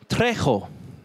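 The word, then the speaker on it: τρέχω: It's trecho.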